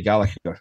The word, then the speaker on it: Gallacher: Yeah, it's not easy for non-Scottish people to say Gallacher. It seems to be very difficult. Especially our English friends, they introduce a G in the middle of the name somehow. It's very odd. Gallacher it is.